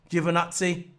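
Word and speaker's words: Giovinazzi: stole him didn't i antion antonio giovanazi i got it right i always say juvenile c i don't know why i say that but i got it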